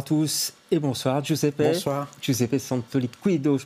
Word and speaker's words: Giuseppe Santoliquido: Giuseppe Santoliquido, je prononce bien?